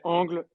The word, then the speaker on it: Angle: Like we're from France, so in French we say angle, but many people tend to say angle as well.